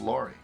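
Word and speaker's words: Lowrie: It's not pronounced Lowry, it's pronounced Laurie.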